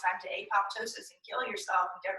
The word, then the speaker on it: apoptosis: Apparently, we've been saying it wrong our whole lives. So, Apoptosis.